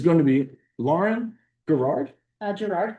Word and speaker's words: Gerard: Gerard. Gerard. Close. Okay, hard G.